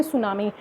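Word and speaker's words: tsunami: next is द सुनामी इसमें T silent होता है इसको बोलते हैं सुनामी द सुनामी है दैट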